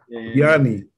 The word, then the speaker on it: DeAnda: DeAnda.